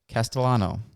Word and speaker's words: Castellano: We are back in studio, and today we have Chase Castellano.